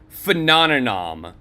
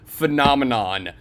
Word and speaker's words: phenomenon: he says the word phenomenom now if that didn't sound right to y'all um you're right uh because he keeps mispronouncing the word phenomenon I don't know if